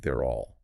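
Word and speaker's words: they're'll: The contraction is given as their lel. They're the well. Like THEY apostrophe RE apostrophe LL. That's the structure, yeah. But the pronunciation guide clarifies it sounds like they're all.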